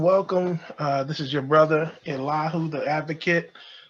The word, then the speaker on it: Elihu: This is your brother Elihu, the advocate. Some folks might call it or pronounce it Elihu, and that's fine as well.